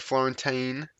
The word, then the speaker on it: Florentine: Next comment here, we had Florentine. Yeah, I did pronounce it right. I remember him saying EEN. Well, that's how he said to pronounce it in his comment.